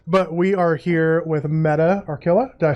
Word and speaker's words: Metta Archilla: But we are here with Metta Archilla. Did I pronounce that right, first of all? You did. Metta Archilla.